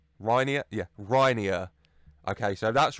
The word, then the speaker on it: Reinier: to say this name, and it says it's Reinier. Reinier. Reinier? Yeah, Reinier. Okay, so if that's wrong, you blame the man on Google who said that, okay? But I'm going with Reinier.